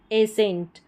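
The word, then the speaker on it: ascent: यहाँ पर इसको एसेंट पढ़ा जा रहा है, क्या पढ़ा जा रहा है, एसेंट, तो यहाँ पर भी सी साइलेंट है।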